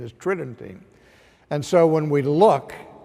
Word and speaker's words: Tridentine: tridentine it would sounds like it would be pronounced tridentine but the normal pronunciation is tridentine and so when we look to the conciliar